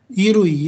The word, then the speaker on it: 衣類: 衣類、 Irui, dibacanya irui artinya irui itu sesuatu yang dipakai oleh kita ya.